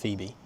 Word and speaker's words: Boephe: But after years of listening to Phoebe make small-talk in the back of the car, she asked Boephe (pronounced beefy) to leave.